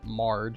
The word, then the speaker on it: Marg: So this, I think they pronounce it Marge, even though it's spelt like Marg.